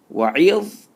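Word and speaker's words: وَإِذْ: Wa'idh. Wa'idh. Make sure blend from empty mouth to full mouth, and pronounce the ayn properly. Wa'idh. So twist it.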